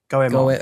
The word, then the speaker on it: Goemon: Goemon. How's it spelled? It is Goemon. I think it's probably Goemon, hasn't it?